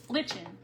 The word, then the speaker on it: lichen: But it's L I C H E N. Lichin. Like being in the kitchen.